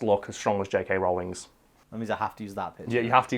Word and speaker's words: Rowling: pronounced it is pronounced Rowling and we know this because JK Rowling herself gone on record as saying multiple interviews pronounce my name as if you're saying the word rolling I'm not really gonna